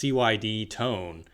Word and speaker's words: CYD Tone: Now you said it's pronounced CYD Tone.